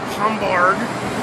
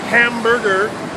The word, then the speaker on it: Hamburg: see some interesting sights the city name is pronounced hamburg not hamburger so uh unfortunately it's